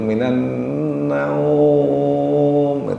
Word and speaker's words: minan naum: Ya, tapi kalau secara tajwid bacanya naum itu ya panjang mestinya secara tajwid ya bacanya. Nah, itu namanya mad lain. Mad lain bacanya panjang. As-salatu khairum minan naum. Yang benar seperti itu.